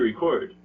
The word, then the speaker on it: record: record mm-hmm record mm-hmm that's right it's the second syllable that is the difference between these two words um so usually as a general nouns this first syllable is usually stressed verbs the second syllable